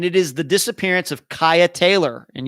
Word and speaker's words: Cieha: is the disappearance of kyah taylor and you spell her first name c-i-e-h-a yes that is pronounced kaya she disappeared february 6